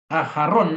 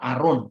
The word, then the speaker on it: Aharon: kan sangat mempengaruhi Jakarta aharon adalah nama dalam bentuk maskulin Ibrani yang biasanya karena dieja dalam bahasa Yunani maka huruf hanya itu enggak diucapkan aharon menjadi apa Arun y hanya dibaca Nah